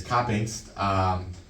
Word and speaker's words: Koppingst: I've been working on that last name. It's not spelled like that. We'll show our viewers I didn't on say that YouTube. one. Yeah, it's Koppingst.